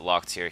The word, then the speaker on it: Locktier: I think he told me to pronounce it Locktier.